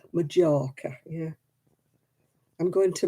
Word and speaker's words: Majorca: how it was pronounced majorca yeah i'm going to majoraca because they thought they had to pronounce the j yeah times have rolled